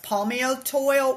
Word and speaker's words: Palmitoyl: can be shown as palmitoid, which I can put in the podcast notes. Palmitoid, just so you know, it's spelled Palmitoyl.